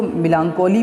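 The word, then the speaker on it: melancholy: आप इसको मिलानकोली भी बोल सकते हो। मिलानकोली जो है आपका मिलान एक बार में बोलोगे, और CHOLY इसको कॉली की तरह से प्रोनाउंस करेंगे, मिलानकोली।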